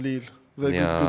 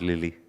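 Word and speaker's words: Lille: and Lily Lucas Shival and Lucas Shali from Le Young talents. They're very young talents goalkeepers. Oh yeah, another lesson I just realized. It's Leil, right? Not Lily.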